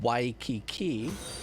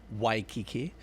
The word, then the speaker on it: Waikiki: If there's a W at the beginning of the word, like Waikiki, it's pronounced with a W.